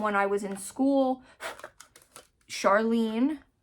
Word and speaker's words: Charline: Charlene is my actual name, but it's spelt, of course she did me dirty, and she spelled it C-H-A-R-L-I-N-E instead of E-N-E. So my whole life I've been called everything but my name.